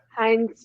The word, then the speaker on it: Hines: i guess i'd start hines is that how you say his name nine heinz yeah heinz yeah he's he's one